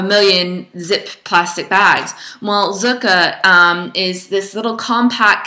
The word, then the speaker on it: Zuca: received the other day by zuka I don't know if you've ever heard of them before it's spelled um z u CA and and this bag is